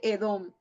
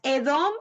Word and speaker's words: Edom: del Mar Muerto y se pronuncia como la palabra bíblica para rojo y por extensión usualmente